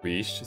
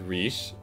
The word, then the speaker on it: Reeche: about the new GFE, which is Reeche, spelled like R-E-E-C-H, like Reese's, well not Reese's, no, there's no S in it, but like Reese's Cups versus R-I-I-C-H-E, which is